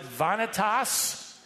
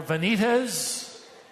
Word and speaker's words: vanitas: it, into Latin, using the word, you could pronounce it vanitas or vanitas.